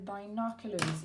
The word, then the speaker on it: binoculars: Ok, be careful on pronunciation. I. Comme quand on se fait mal, binoculars.